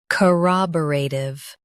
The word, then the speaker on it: corroborative: Stress ra and keep tiv light.